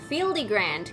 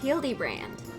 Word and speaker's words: Hildibrand: Fieldy Fieldy Grand character. Fieldy Grand. It's pronounced Hildybrand.